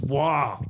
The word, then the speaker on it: Roy: It's pronounced Wah.